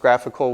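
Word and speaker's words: GraphiQL: get these really neat tools like graphical it's pronounced graphical which is the graph QL live query editor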